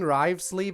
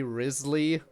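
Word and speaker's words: Wriothesley: Isn't everyone in the game saying Rivesley, but the correct pronunciation would technically be Risley?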